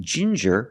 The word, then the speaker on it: ginger: you have different pronunciations with ginger we use the J sound like juice and jump and the regular n Jin juror Ginger people like to drink